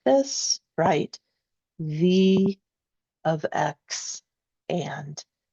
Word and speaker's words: V(x): Now, when you pronounce these out loud, right, please don't call this V sub X and please don't call this M sub X.